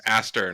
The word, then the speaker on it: Aster: You should probably spell It's it Aster. anyways. Aster, not Astley.